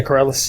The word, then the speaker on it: Corrales: How do you pronounce that? Corrales? Yeah, Corrales.